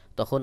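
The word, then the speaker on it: ت: তার উপরে দুই নুক্তা এই তা উচ্চারণের সময় বাহিরের দিকে হালকা বাতাস বের হবে তা উচ্চারণের ক্ষেত্রে বাহিরের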